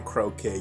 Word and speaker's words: Croque: I think his name's pronounced Croque. Croque. Could be croquet. Is that croquet? That's what I thought, maybe. Croquet? Oh, it's definitely croquet.